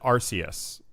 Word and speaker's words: Arceus: so this is this is pokemon and you pronounce it arceus that's correct okay so pokemon if i remember